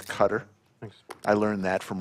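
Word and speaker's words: Qatar: have gave it away some people pronounce it differently but I believe the correct pronunciation is cutter than I learned that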